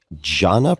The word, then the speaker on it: jhana: Jhana practice? Am I pronouncing that correctly?